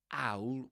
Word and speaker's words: owl: Yeah, he does pronounce that owl, owl with that.